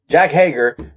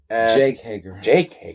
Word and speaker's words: Jake Hager: commentary with Santana, not Santana, or how you pronounce his name? Yeah, Inner Circle. It just got Jack Hager. Jake Hager.